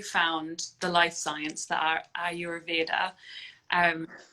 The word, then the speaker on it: Ayurveda: Yeah, so I would say Ayurveda.